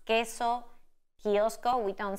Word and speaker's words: queso: And then we have silent U after the letter Q, and we pronounce queso, kiosco. We don't say queso, kiosco.